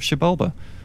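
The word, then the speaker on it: Xibalba: And that also clears up the pronunciation of Shibalba.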